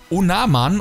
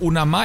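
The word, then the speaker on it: Onomah: wir haben hier Josh onaman oder onama heißt der onama ich glaube er wird onama ausgesprochen habe ich mir auch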